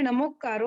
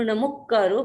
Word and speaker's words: नमुक्कारो: कहीं कहीं है नमुकारो, तो सही क्या है, हमें किसका उच्चारण करना चाहिए? ऐसे देखिए, सही तो दोनों ही लग रहे हैं, पर हम अपने पुस्तकों में देखते हैं या गुरुदेव के पास जब हम सुनते हैं तो नमुक्कारो बोला जाता है, नमुक्कारो जैसा मैंने लिखा हुआ था, नमुक्कारो। तो जहां हम जो चीज सीखते हैं और जहां से सीखते हैं उसी के उच्चारण को हम ग्रहण करें तो ज्यादा अच्छा है।